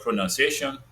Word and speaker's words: pronunciation: Then we also observed that when you say the word pronunciation, there is no O there, but in pronounce, there is O.